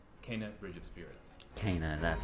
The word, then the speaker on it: Kena: Kena, that's how you say it.